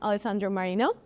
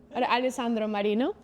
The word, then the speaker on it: Alessandro Marino: Aleandro Marino. Um, it's good pronunciation actually. Is it Alandro Marino?